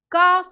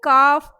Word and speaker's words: calf: In calf, L is silent.